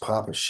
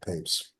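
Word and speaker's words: Papez: on the circuit of of PES and originally pronounced poish I get asked but most people call it PES and uh that is a um circuit uh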